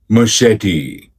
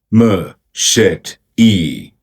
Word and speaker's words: machete: This word got a pronunciation here. machete machete machete ma shet e ma shet e ma shet e machete machete